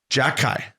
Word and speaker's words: Xhekaj: No, Xhekaj. Yeah, the X is silent. Yeah. Like Xhekaj.